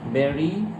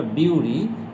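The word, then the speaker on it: bury: আর যদি বলতে হয় সাবজেক্ট, আমাদেরকে যদি আগে নিয়ে আসি, উই বেরি, আমরা কবর দেই দ্য ডেড পিপল। তোমার মনে হতে পারে উচ্চারণটা বিউরি, কিন্তু আসলে উচ্চারণটা কি? বেরি।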